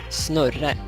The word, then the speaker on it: Znurre: But if you want to do it properly, like it was intended to be pronounced, yeah, it would indeed be Snurre.